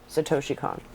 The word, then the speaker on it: Satoshi Kon: Satoshi Kon. Satoshi Kon.